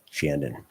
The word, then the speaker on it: Shandon: I believe it's Shandon. I pronounced that wrong. I'm sorry. Yeah, it's Shandon.